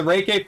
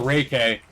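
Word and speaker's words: Ray-K 84: were like it's the reiki 47 dude yeah the the i'm still going to call it the ray k i'm pretty sure that's that's how it's pronounced it's the ray k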